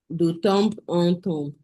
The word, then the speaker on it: de temps en temps: de temps en temps. No, not temps. The P is silent.